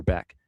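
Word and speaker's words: Bäck: Did score Oscar Beck. And by the way, it's Beck. Don't be fooled by the spelling. It's not back. It's Beck. Even though it's spelled back.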